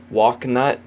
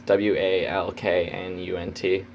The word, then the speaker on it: Walknut: Forest, Blood of Kingu, I guess this is how you say it, but I've been saying Walknut, but it's Walknunt, Walknut.